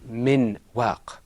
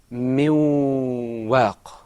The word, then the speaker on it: من واق: Now, remember, when we said min waq, in the Qur'an we don't say min waq. The noon is not fully articulated. It is pronounced min waq.